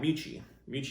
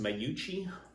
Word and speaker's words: Mucci: I think Mucci's name is technically pronounced Mayuchi, but you never hear anybody saying Mayuchi cues. Mucci, that's what we call them all the time in the 80s and 90s in that time frame.